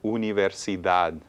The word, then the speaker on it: universidad: Okay, la siguiente es universidad. Universidad. Una palabra larga. Es larga. Okay, muy bien. Where is the stress on this one? Universidad. Universidad. Last syllable.